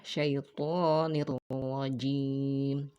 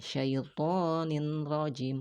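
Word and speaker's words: الشَّيْطَانِ الرَّجِيمِ: gunnah, tanpa adanya dengung, sehingga dibacanya apa? Syaitonir rajim, syaitonir nirro, bukan ninro, ya, akan tetapi menjadi nirro. Syaitonir rajim, syaitonir rajim, nirra, ya. Jadi bukan ninra, bukan syaitonin rajim, bukan.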